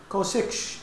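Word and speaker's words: csch: تانش اكس، و سيكنت هايبربوليك و سيكش اكس، و كوتانجنت هايبربوليك ونطقها كوتش اكس، و كوسيكنت هايبربوليك ونطقها كوسيكش اكس ريسبكتيفلي.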